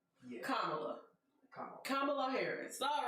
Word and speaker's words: Kamala: that with a t so that's why i pronounce it but it's kamala kamala harris all right kamala d harris okay